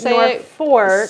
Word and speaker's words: Norfolk: just search Norfork Pine that's Norfolk we say North Fork spell it correctly but o r f o l k uh